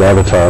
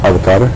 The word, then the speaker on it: avatar: Well, I pronounce it avatar like everybody else does, but I believe it's pronounced more like avatar.